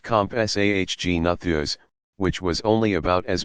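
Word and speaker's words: Compsognathus: may have been the zag natha's pronounced comp SAH Gina Thea's which was only about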